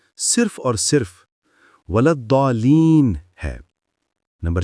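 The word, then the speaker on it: ولا الضالين: درست نہیں۔ نمبر 3، امت مسلمہ میں صحیح تلفظ صرف اور صرف ولضالین ہے۔ نمبر 4، الضالین یا کوئی اور شکل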